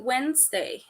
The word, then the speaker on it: Wednesday: as you can see is pronunciated Wednesday so where the first D is silent that's the reason why